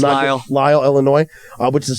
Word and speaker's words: Lisle: I don't know how to pronounce it. It's Lisle.